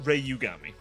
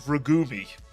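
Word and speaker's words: Rei Yugami: and well Ray I it's meant to be pronounced Ray Yugami. I said ragumi. I called him ragumi by mistake.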